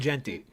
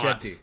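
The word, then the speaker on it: Jeanty: And how do you pronounce the Boise State running back's name? Ashton Genty. Is it Genty? That's what I thought. Genty.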